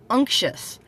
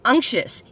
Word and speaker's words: anxious: day is anxious so take the first three letters of the word uncle and then put a chef on it anxious that's how you pronounce